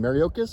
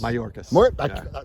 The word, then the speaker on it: Mayorkas: How do you pronounce his name? Mariocas? Mayorkas.